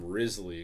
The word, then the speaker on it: Wriothesley: Next up is the only character I even vaguely brought up to you, and his name is Wriothesley, or most people call him Risley, because nobody knows how to say his name, and because he's got serious cake.